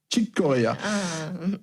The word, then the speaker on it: Chick Corea: Donc, Chick Corea, ça se prononce comment d'ailleurs, Céline ? Je crois que c'est Chick Corea. Chick Corea.